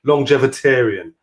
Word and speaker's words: Longevitarian: Longevitarian.